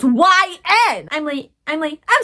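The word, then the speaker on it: Y/N: Fun fact, for a while, YN I thought it was pronounced Yin.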